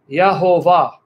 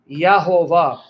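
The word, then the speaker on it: Yehovah: And they pronounce the name as Yahovah, Yahovah.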